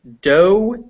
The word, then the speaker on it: doe: Doe, D-O-E, is a word for a female deer. Yes. Dough, D-O-U-G-H, is what you make bread out of. Yeah. But yes, they are both pronounced exactly the same.